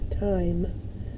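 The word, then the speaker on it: thyme: h y m e time the h is silent we have another word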